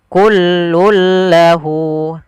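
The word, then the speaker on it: كل له: Awalnya kullun menjadi kullul. Kemudian langkah kedua, dia tidak boleh ditahan tapi hanya masuk saja. Kullul lahu.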